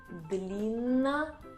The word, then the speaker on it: длинношеее: Длинношеее. Длинношеее. Длинношеее means long-necked. Длинношеее. And second word. Змееед. Змееед. It's snake eagle, someone who eats snakes. And you need to pronounce all these 3 "е".